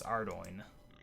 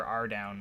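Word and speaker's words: Ardougne: that he can't pronounce Ardoyne and in fact pronounces it in probably one of the worst possible ways I prefer our down myself if nothing else there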